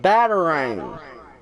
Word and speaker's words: batarang: Batarang. I got it now. You're emphasizing the pronunciation of batarang. Ah! It's pronounced like batar-range, with a slight emphasis on the transition between the 3 syllables.